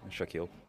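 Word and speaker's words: Shaquille: En dat spreek je uit als? Shakil.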